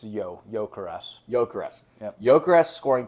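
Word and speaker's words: Gyökeres: How's it pronounced? Yeah, it's Gyokeres.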